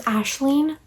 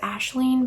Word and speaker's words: Aisling: Her name is Aisling. It's like one of the variations of Ashlyn. That's how it's spelled, but I pronounce it Aisling because I just wanted to be different.